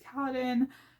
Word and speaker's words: Kaladin: Kaladin is Kaladin, Dalinar is Dalinar, Navani is Navani, Yasna is Yasna, oh, Sit.